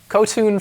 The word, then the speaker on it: Kotun: Kotun for all. Tune. So it's not Ton, it's Tune. It might be Ton, but we've been calling her Kotun.